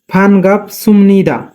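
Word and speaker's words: 반갑습니다: কিন্তু এখানে বিউ বাচ্চিমের পরে নিউন থাকলে বিউপের উচ্চারণ মিউমের মতো হয়, তাই এখানে উচ্চারণ হবে সুম। ফান গাপ সুমনিদা, মান্নাসা ফানগুপ সুমনিদা।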